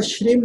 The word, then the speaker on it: श्रीम: भी अगर लिखा हो, तो श्रीम प्रोनाउंस करते हैं, श्रेय के ऊपर बड़ी की मात्रा, अंकी बिंदी, श्रीम बोलते हैं।